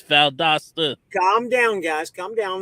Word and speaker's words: Valdosta: to on the regular calls it Valadosta. It really burns the living hell out of me when they say it like that. Like, why are you coming up with extra letters? It's Valdosta.